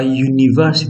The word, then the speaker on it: university: So even though the letters are u, but that when we pronounce it is ya. A university, not a university. In the same way, a uniform. So the sound begins with ya, which is a consonant sound.